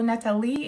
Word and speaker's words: Nathalie: The thing about my name is that the intonation is at the end, so Amélie, like Amélie, so it's Nathalie, Nathalie.